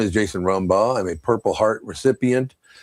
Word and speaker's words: Rumbaugh: I Jason Rumba, correct? Is that how you say your last name? Yeah, you said it right. I'm glad I got it right. Uh, says, "My name is Jason Ramba.